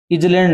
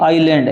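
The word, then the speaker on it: island: क्या उच्चारण करोगे अभी जलैंड नहीं है ये आईलैंड है क्या आई लैंड आईलैंड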